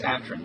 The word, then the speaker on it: Atran: Is that the way you pronounce it? It's not Atran, right? It's Atran.